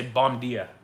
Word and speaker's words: bom dia: dia is so confusing because B-O-M, bomb, wrong. Bom. Gia, D-I-A, dia, wrong. You get 6 letters, and in those 6 letters, there's like 2 different hidden pronunciations. You know? I think a lot of tourists would say bom dia, but Yeah. it's bom dia.